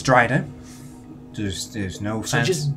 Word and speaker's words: Drider: It's Dryder.